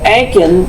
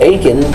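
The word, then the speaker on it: Akan: language, religious groups and the Anken or Aken are the largest ethnic group. They constitute much of the people and it's spelled A K A N.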